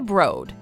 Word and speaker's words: Broad: must visit for travelers the broad yep pronounced with a long oh let go financed by